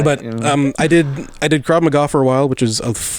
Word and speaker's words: Krav Maga: It's Can you pronounce that again? McGruff the dog. What type of style is it? Krav Maga.